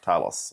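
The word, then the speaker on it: Thales: Uh it also gets a new suite of Talis Orion sites including thermal longrange cameras. Just for people who are only bit part-time players in this space, Talos is written but it's pronounced Talos.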